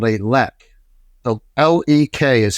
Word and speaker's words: lek: It's called a lek. So L-E-K is how it's spelled.